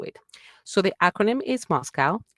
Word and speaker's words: MoSCoW: It is known as MSCW pronounced Moscow.